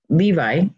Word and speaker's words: Levi: So over on Levi or Levi. I interchange it so much because the Hebrew is Levi. You pronounce it Levi.